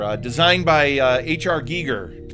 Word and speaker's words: Giger: designed by uh HR Giger Giger Gyer Giger gger I've heard it pronounced both ways I and I don't